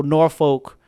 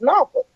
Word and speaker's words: Norfolk: It's Norfolk. It's not Norfolk. It's not, That's definitely a word that should be bleeped. Okay. Right. It's not that either. So Norfolk. Did I say it right? Norfolk.